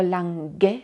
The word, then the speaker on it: lang: finga finga finga finga si se pronuncia la n ahí atrás como en mango pero la g no suena igual como en lang